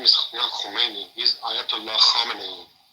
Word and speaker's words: Khamenei: He's Ayatollah Khamenei. Khamenei. Not Khomeini. Sorry. Khamenei. Sorry about Khamenei. Khomeini was the one that took over at the beginning of the Revolution, 1979. Yes. Yeah, Khamenei. But it looked like it's spelled the same, Khomeini. Yeah, it's the same, yeah.